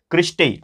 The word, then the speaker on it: cristae: और ये जो आपको ये फोल्डिंग्स दिखाई देते हैं इसको हम लोग बोलते हैं सिस्ट्रे, ठीक है, स्पेलिंग यहाँ पे लिख लेते हैं क्रिस्टे, ठीक है ना, CRISTAE, तो क्रिस्टे होते हैं।